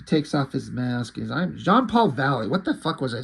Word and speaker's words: Jean-Paul Valley: I'm Jean-Paul Valley. What the fuck was I saying? Jean-Paul?